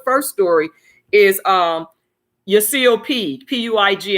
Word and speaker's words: Puig: The first story is Yasiel Puig, Puig, and I think that's how you pronounce it. I don't want to say Pig because I don't know, and I don't want to call him his name that.